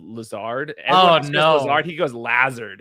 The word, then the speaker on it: Lazard: love davis maddox but he goes lazard instead of lazard oh no he goes